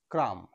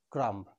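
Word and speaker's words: crumb: Next, B এর আগে এম রয়েছে, এর সঠিক উচ্চারণ হবে ক্রাম, নট ক্রাম্ব। বি এর আগে এম রয়েছে, এর সঠিক উচ্চারণ হবে ডাম, নট ডাম্ব, ডাম।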